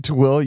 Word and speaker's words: Tooele: How do you spell that? How do you say Tooele? Tooele.